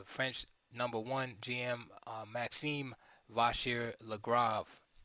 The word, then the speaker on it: Vachier-Lagrave: number one GM Maxim vashir lra lra gotta say it like that right the French vashir lra um okay I like